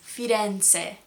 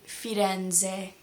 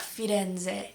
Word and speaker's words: Firenze: The name of the city Florence in Italian is Firenze. I was saying Firenze like with a very American Z.